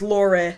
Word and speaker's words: Lore: r e but it pronounced La it is pronounced Laur and they're dming her with an offer for